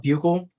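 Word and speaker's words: Buechele: Ball bugle.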